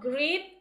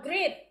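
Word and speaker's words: greet: number two okay I did great instead of great great okay now grit not great you're gonna uh spell it as g-r-e-e-t Okay g r e g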